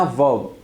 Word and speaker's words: verb: The fourth one इज वर्ब. इसको आपने वर्ब नहीं कहना, वर्ब. आर की साउंड नहीं आएगी इसमें, वर्ब.